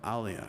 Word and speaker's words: Alia: Alia, right?